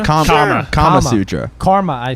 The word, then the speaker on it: Kama Sutra: Is that how you pronounce it? Karma Sutra? Karma. Kama Sutra.